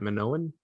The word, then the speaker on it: Minoan: Minoan?